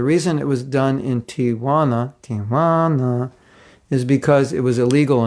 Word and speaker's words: Tijuana: and California borders a city called Tijuana, pronounced with a Mexican accent, Tijuana.